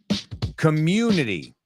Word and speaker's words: community: Community. La U a veces en inglés es you, como tú.